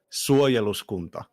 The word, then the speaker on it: Suojeluskunta: The name is pronounced Suojeluskunta. Suojeluskunta.